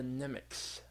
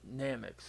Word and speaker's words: Nameks: to be the Namekians, or as they called it, the Nemeks. Yep, or at least as Ogiko pronounced it, the Nemeks. But yeah, or Nameks, obviously.